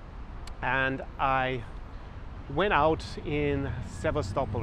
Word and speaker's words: Sevastopol: So I went out to Crimea, and I went out in Sevastopol, or Sebastopol as we probably pronounce it in English, which is on the shores of the Black Sea.